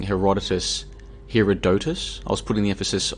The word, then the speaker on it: Herodotus: I was calling it Herodotus, and there were a number of people like, it's not pronounced that way, it's pronounced Herodotus.